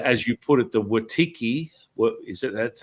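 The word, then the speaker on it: Wetiko: The as you put it, the Watiki, what is it? That's how you pronounce it? Watiko, yeah, or the lower frequency.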